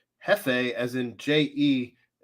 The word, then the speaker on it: jefe: sandwiches lately tea win el jefe is spanish and is pronounced hefe as in j-e-f-f-e jefe j-e-f-e is it yeah